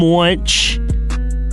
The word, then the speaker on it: Wunsch: flick all right uh wunch lunch lunch lunch lunch rhymes with lunch that's what i was